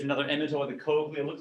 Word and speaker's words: cochlea: Number 6, say cochlea, cochlea. Some people call this the Coachella.